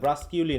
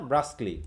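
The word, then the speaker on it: brusquely: কি হ্যা এটা হচ্ছে কি ব্রাসকলি ব্রাসকিউলি না ব্রাসকলি উচ্চারণগুলো খেয়াল করতে হবে বানান আর উচ্চারণ কিন্তু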